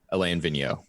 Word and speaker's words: Alain Vigneault: the first time I pronounced his name, I butchered it to the point that Marcus thought I said filet mignon. Alain Vigneault.